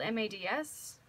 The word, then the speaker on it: Mads: I've heard it's pronounced Maz, but it's spelled M-A-D-S.